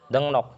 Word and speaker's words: 등록: Jadi itu dibacanya dengnok. Kenapa? Bahasa saya masih ingat kayaknya. Itu apa? Ya partikel ang ketemu L itu L-nya jadi N.